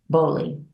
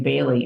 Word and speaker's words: Bly: say is this Dorothy Bly and she answers me in an uh what do I say bothered way she told me later they pronounce her name Bailey and whenever people call